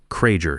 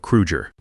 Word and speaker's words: Krueger: He mispronounced Hans's name. Cranger instead of Krugger.